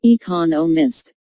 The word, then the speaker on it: economists: Smith is an economist notice the stress on economists this content word has new information so it is emphasized there are four syllables in economists with the stress on the second syllable economists he just finished writing